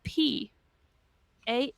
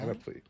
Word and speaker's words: panoply: Silent P, Anoply. Ooh. The P is supposed to be silent. Panoply. That's how I was taught to pronounce it by Webster.